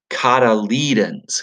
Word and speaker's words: cotyledons: have the cattle Eden's it's a weird word I know but it's spelled CE o tu y el e do n s and we say it cotyledons cotyledons cotyledons and in